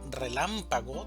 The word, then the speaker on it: relámpago: La palabra relámpago tiene cuatro sílabas, una sílaba tónica y tres sílabas átonas. La sílaba tónica va a ser lam, relámpago, relámpago. 7.